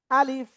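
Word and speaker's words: ألف: আলিফ এরকম হয়ে যাচ্ছে আলিফ না আলিফ নিচের ঠোটের পেট উপরের দুই দাতের আগায় লাগিয়ে হালকা বাতাস বের হবে হ্যা আলিফ আলিফ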